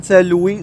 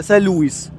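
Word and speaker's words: Saint-Louis: كاين هذا المشكل هذا في الفرنسيه ديال لا برونونسياسيون دي كونسون ولا نطق ولا لفظ الحروف الساكنه، فبعض المرات تيتنطقوا بعض المرات ما تيتنطقوش، ولكن في هذه الحاله هذه في الغالب غادي تنطق لنا كاينه واحد القاعده تيقول لك بان الا كان قبل منه واحد الفويل ممكن اننا ننطقوه.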